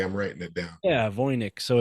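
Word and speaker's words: Voynich: what I'm sorry I'm writing it down yeah voynik so it's spelled v-o-y-n-i-c-h manuscript and and then yeah the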